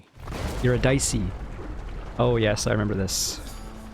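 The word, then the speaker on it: Eurydice: bye it's like spelt eurodice but it's not pronounced eurodice you're a dicey oh yes i remember this i'm just gonna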